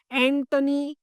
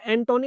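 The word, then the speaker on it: Antoni: एंटनी God. Right? कुछ student इसको एंटोनी बोलते हैं। इट इज़ नॉट एंटोनी। इट इज़ एंटनी gaudy. Right? It इज़ एंटनी। O will be silent here.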